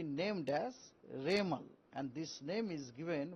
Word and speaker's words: Remal: उनको नाम होगा रेमल रेमल प्रोसन होगा रेमल उसका spelling uh आरई एम ए एल रेमल यह नाम एक्चुअली